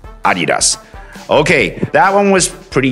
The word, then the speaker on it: Adidas: Everybody says Adidas, except for the American pronunciation would be Adidas. Well, which one is the correct version? The correct version would be Adidas, since it's a German brand, and in German it would be pronounced Adidas.